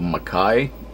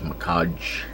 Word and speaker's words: Makai: a game legend of makai i'm pretty sure it's not pronounced mikaj let me see is the